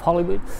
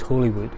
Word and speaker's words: Holywood: The building behind me is the old Priory of Hollywood, and it should really be pronounced Holywood.